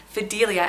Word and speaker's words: Fidelia: This name can actually be pronounced Fidelia as well, and with that pronunciation, it would be a great Amelia alternative.